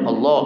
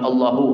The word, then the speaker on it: Allah: Kalimat Allahnya itu disukunkan, tidak dibarisi ya. Jadi bacanya Allah, Allah, Allah, Allah, bukan Allahu, Allahu, Allahu, nah, tapi Allah, Allah, Allah.